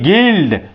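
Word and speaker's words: guild: silent हो गया जी यू आई एल डी गिल्ड यू हमारा क्या हो गया साइलेंट हो क्यों क्योंकि यू के बाद आई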